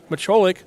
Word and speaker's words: Mitrolik: Mitrolik, I'm going to make sure I follow you up with that so I pronounce that correctly so any of the relatives especially don't get too upset with me. That's Mitrolik at the line. That's according to Coach Caleb. That was the pronunciation he gave me, so we're going to roll with it.